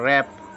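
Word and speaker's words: wrap: आरडी इसको पढ़े guard W silent पढ़ते हम डब्लू साइलेंट क्या होता है डबल ए प इसको हम पढ़ते हैं रप रप यानी कि लपेटना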